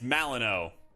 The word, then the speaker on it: Malinois: Listen, Lego, I'm American, and it's Malinois. We didn't fight the French and the British and everybody else just to be pronouncing things your way. And it's soccer. God. Malinois. USA, USA. Like Illinois? Yeah.